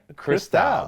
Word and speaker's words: Cristal: Cristal, not the expensive shit, not the expensive stuff. Right. Yeah. Am I pronouncing it right? No, you're saying it right. Yeah. Cristal, the real shit.